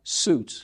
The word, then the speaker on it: Sjuts: had to tell me it's s j u TS pronounce suits yeah the origin German